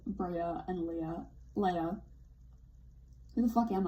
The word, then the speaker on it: Leia: 5, it is pronounced Leia. Shame on me. Shame on General Dodonna for ever pronouncing her name like that.